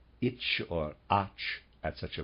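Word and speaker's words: Etsch: must use the expression itch. Sorry, readers aside, I think I was pronouncing that slightly wrong. It's spelled E-T-S-C-H. I believe he means me to pronounce that H.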